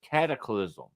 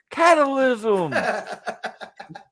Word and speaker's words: cataclysm: No matter how many times and it's not a difficult word to say, cataclysm. No matter how many times he would always, and now in the ring, catalysm.